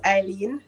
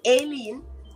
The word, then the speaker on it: Eileen: My name is Eileen, not Aileen, as Goga says. Screen Aileen. number one. It's Eileen, and it's spelled with an E.